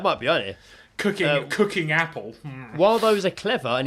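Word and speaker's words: Apel: oh this is good it's Apple you're right it's Apple this is good it's spelled different georgel that's how it's spelled but then but then I read the last words and it made sense okay okay uh George Apple but not spelled Apple it's spelled yeah it's spelled a p e l last words well gentlemen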